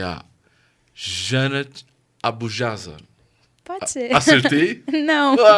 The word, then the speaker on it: Jannath Abujazar: E eu trouxe aqui dois judeus e hoje eu trago uma palestina que é a Janat Abujaza. Pode ser. Acertei? Não. Qual é a pronúncia? Janat Abujaza. Janat Abujaza. Janat. É.